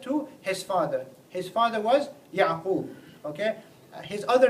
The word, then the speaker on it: Yaqub: And in English the way you pronounce Yaqub is Jacob. But as I said, the proper pronunciation is actually Yaqub.